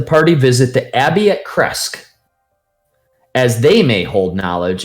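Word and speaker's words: Krezk: Kresk, whatever you pronounce The way you just said it last, which is more correct than the way I said it. Okay. So it's Kresk, but it's got that German Bavaria, it's got that Transylvanian sounding kind of Kresk.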